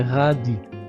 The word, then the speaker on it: radis: Ce sont des radis sans prononcer le S final.